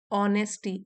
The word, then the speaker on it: honesty: ऑनेस्टी H silent है इसमें।